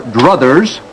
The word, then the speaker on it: druthers: Annette isn't naming any names, dear readers, but if she were in that situation and had her druthers, that word is in boldface, notice how it rhymes with Carruthers, she'd take a wrench,